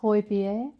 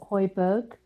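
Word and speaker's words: Højbjerg: his name correctly will it is joy beer not hoiberg hodgepodge yeah yeah it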